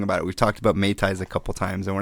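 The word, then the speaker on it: mei tai: about things like am I saying it right May ties yes all right and Rings slings and even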